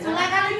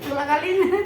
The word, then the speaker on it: চলাকালীন: ওই চলাকালীন কথাটা কারা বলে? চোলাকালীন। চলাকালীন আর ওনার উচ্চারণ হয়তো ঠিক হচ্ছে না, চলাকালীন বলতে গিয়ে চোলাকালীন হয়ে গেছে।